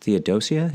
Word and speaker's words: Theodosia: But I think for me, rumors of his daughter, and I think her name is pronounced Theodosia, is that right, approximately?